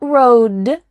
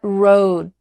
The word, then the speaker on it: road: Not road, but road. Your tongue is there in place, about to make the D sound, but there's no vibration and air that comes out.